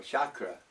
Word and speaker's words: chakra: The aura is the chakra, or chakra as it's properly pronounced, that is revolving rapidly around the body, different colours.